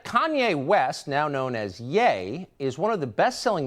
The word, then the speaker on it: Ye: he's pronouncing it right you'll notice that people on the left who now hate Kanye will call him like ye like The Young Turks call him ye it's like really this is not that hard to to find out how to pronounce something properly it's yay and why would it be ye it's con yay yeah weird yeah why